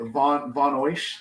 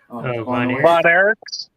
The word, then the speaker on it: Von Erich: Von Oish? Is that how you say their name in wrestling? Von Erichs.